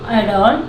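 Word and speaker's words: adorn: एडॉन, ठीक है, एडॉन यहाँ पे भी आर साइलेंट है, अगर एन के पहले जहाँ पे भी आ रहा है वो साइलेंट रहता है, जैसे मॉडर्न, एडॉन, ठीक है।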